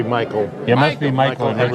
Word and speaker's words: Michael: The two sons, and I said Said- Michelle because that's the way it looks like it's spelled, but it must be Michael.